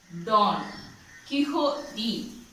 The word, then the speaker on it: Don Quixote: Don. Quixote. Q-U-I-X-O-T-E. Quixote. Don Quixote. For better pronunciation, let us learn the phonetic form.